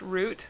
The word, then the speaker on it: route: I noticed on one of your videos you pronounced root the British way. Rhymes with boot. Rather than US way rhymes with clout. Route?